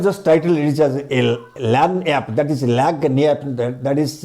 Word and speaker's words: lagniappe: I have just titled it as a LAN app, that is Lagniappe, that is wrongly pronounced Lagniappe, that is LAN app, means gift,